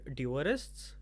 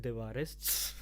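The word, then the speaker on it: The Dewarists: are uh like there was a show called duress uh which i have no idea why it's pronounced duress it i would call it divorists but uh so that was a huge exposure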